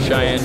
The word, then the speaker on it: Cheyenne: Cheyenne Jackson. Spell it.